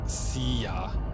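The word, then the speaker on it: silla: Also, it's pronounced siya, like as in bye bye. Yes, the LL is a ya sound.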